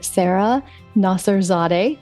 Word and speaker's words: Sara Nasserzadeh: We have not had an interview in a while, so I am very excited to bring my friend Sara Nasserzadeh.